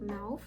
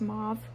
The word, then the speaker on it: mauve: I'm using the NYX lip liner in the shade mouth. currently editing this and I just realized that it is pronounced mauve and not mauve.